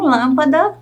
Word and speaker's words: lâmpada: de identificar não é mesmo vamos conferir então lâmpada lã cavalo vá Leão ão cenoura nou borboleta